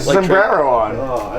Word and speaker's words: sombrero: no, it's sombrero. Sombrero. Thank you, my friend. You have to roll your R's.